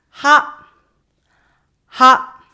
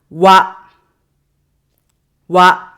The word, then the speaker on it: は: This is usually we pronounce as ha, ha. But when it's used as a particle, we pronounce it wa, wa.